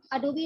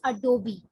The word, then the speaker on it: Adobe: And here you can see the menu of Adobe Illustrator pre-designed templates Ok one more thing many people say It's Adob. But it's not. The right pronounciation is Adobee (Adobe) Here are some pre designed templates.